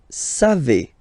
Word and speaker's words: savez: Then vous savez. Classic ending for vous, E-Z, but then phonetically it's E.